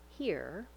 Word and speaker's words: here: In the word here, make sure you use a tight back American R. We glide from the high front E vowel to American R, here.